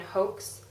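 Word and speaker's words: Haux: up another MAC eyeshadow in hoax I guess it's pronounced as h-a-u-x whatever it's picking up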